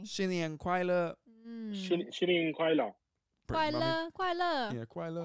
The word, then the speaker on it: 快乐: Kuai Le. Yeah, Kuai Le. Kuai La.